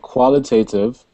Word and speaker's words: qualitative: So, it's called qualitative. Qualitative. Right. Qual. Qual. E. Qual e. Te. Te. Te. Te. Te. Te. No. Te. Qualitative. Yes, exactly. Qualitative.